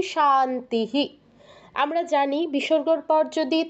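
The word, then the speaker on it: শান্তিঃ: আপনারা শুনে বুঝতে পারছেন প্রথমটা বলছি শান্তিস পরেরটাও শান্তিস শেষেরটা কি বলছি শান্তিহি আমরা জানি বিসর্গের পর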